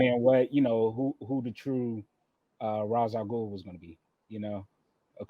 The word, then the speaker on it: Ra's al Ghul: So they were wondering like who the true Ra's al Ghul was going to be, or the correct pronunciation, Ra's al Ghul.